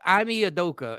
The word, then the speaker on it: Ime Udoka: I mean, Adoki. Emi, you Doka. How do you? Yeah, Ashley, that's exactly what it was. Ime Udoka, and so he's in a bunch.